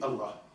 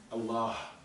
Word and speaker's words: Allah: Allah quand on écrit Allah Alif Lam Lam ha entre le LaM et le ha vous voyez qu'il y a Alif qui est dous Allah on tire on dit pas Allah on dit Allah voilà sauf à part